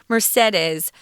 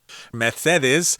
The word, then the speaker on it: Mercedes: and was back then mercedes not mercedes like the car this is mercedes is really how they pronounce it it's a little different methedez is what we're saying here and that's who he